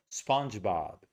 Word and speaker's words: SpongeBob: Really big vowels. Okay. A a twice. The dog vowel twice. Spongebob.